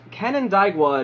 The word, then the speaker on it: Canandaigua: She was raised in, I believe it is pronounced, Canandaigua, New York, her family moving there not long after she was born.